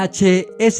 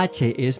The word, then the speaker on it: heth: en usar esta letra la cual se llamaba he y la pronunciaban como una jota aspirada Algo similar al sonido que hacemos cuando limpiamos las gafas con una bocanada de aire luego los griegos la